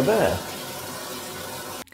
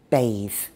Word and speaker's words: bathe: Bathe is pronounced with a long A sound, and it's an old-fashioned word again.